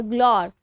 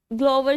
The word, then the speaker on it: glower: 1, GLOWER, ग्लोर। ग्लोवर, इसको बहुत pronunciation है इसकी। ठीक है, ग्लोवर, ग्लोर, कुछ भी बोल सकते हैं, ग्लोवर ज्यादा वैसे सही है इसकी प्रोनाउंसिएशन।